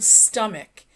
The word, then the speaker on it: stomach: I want to mention, notice how I pronounce the word stomach. Even though it's spelled s t o m a c h, we pronounce it stomach.